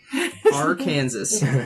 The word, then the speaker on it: Arkansas: My some favorite other thoughts are like Kansas and Arkansas, because it's Oh. spelled the same. Arkansas.